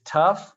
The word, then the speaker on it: tough: here like these words this is tough it sounds like a u this is bao it